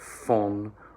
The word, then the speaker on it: von: All right, so that V becomes an F, unvoiced. Von nun an.